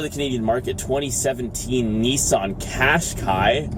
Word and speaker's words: Qashqai: Canadian market 2017 Nissan Qashqai I think it cascais rhymes with splash guy and fast guy right on well -